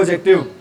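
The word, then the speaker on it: adjective: बोलते हैं इसको एडजेक्टिव क्योंकि बेटा जहां पर भी कौन से वर्ड इकट्ठे आ जाए डी और जे तो वहां पर बेटा साउंड साइलेंट होती है किसकी साउंड साइलेंट होती है बेटा डी की इसको हम क्या नहीं बोलते भी एडजेक्टिव नहीं बोलते बेटा डी की साउंड साइलेंट होगी तो इसको हम क्या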